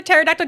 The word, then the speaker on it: pterodactyl: actually kind of close why can't you hear a pterodactyl going to the bathroom because the p is silent that was pretty good that